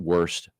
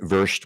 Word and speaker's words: Wurst: made by Hermann Hermann I know they call it worst but hermit verst would be the German pronunciation Hermann verst house with